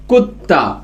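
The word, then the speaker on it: कुत्ता: നായ എന്താണ് ഹിന്ദിയിൽ പറയുക കൂത്ത അപ്പൊ കുന്ന് എഴുതിയിട്ട് ത എന്ന് എഴുതി മേലെ ഒരു വരയിട്ടാൽ അത് രണ്ട് തന്റെ ഉച്ചാരണത്തിലാണ് വായിക്കുക അപ്പൊ ത എന്ന് വായിക്കാം സ്ട്രെസ്സ് ചെയ്ത് വായിക്കാൻ അപ്പൊ കുത്ത കുത്ത എന്ന് പറഞ്ഞു കഴിഞ്ഞാൽ നായ ഒന്നുകൂടി എഴുതാം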